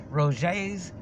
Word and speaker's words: Roget: Rogets, R-O-G-E-T-S. They pronounce it Roget.